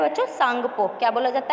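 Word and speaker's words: Tsangpo: Where is called तांसांगपो, जिसको जहाँ पर तिब्बत में ब्रह्मपुत्र नदी को क्या बोला जाता है बच्चों? सांगपो। क्या बोला जाता है? तसांगपो नहीं बोलेंगे, सांगपो बोलेंगे, टी साइलेंट रहेगा।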